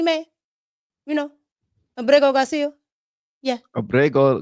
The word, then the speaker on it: Abrego: Abrego Garcia. You got to roll your Rs.